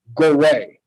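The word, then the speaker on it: Gorée: river was called synagogue now so the french pronunciation is gorey okay go away there's the accent over the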